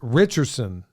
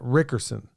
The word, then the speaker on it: Richardson: It's Richardson, not Rickerson.